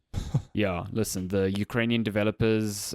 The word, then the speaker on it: Chornobyl: I think it's called Heart of Chernobyl. It's not. Yeah. It's spelt differently It's for obvious reasons. Chornobyl.